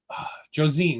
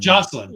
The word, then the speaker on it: Joselyn: into Jo uh um Josine, right? Joselyn Navaro. Joselyn. Joselyn. Okay. I was trying to pronounce it because I always look at it and I always I just can never get it right.